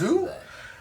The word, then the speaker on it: Zei: It's pronounced Zei.